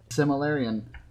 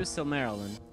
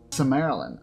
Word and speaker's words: Silmarillion: Oh, there's Similarian. Oh. Yes. Okay, I'm gonna pronounce that right for you, Silmarillion. Silmarillion.